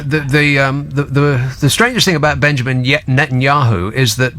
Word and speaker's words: Netanyahu: Well, the strangest thing about Benjamin Netanyahu is that the last two syllables of his name are Yahoo.